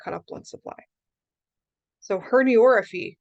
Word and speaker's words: herniorrhaphy: So herniorrhaphy. Now notice how that's pronounced. It's not herniorrhaphy, okay? Herniorrhaphy. It's kind of hard to say.